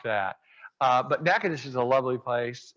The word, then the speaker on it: Natchitoches: Um, by the way, if you haven't been to Natchitoches, do y'all know Natchitoches?